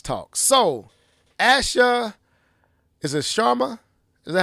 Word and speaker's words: Sharma: So, Asha, is it Sharma?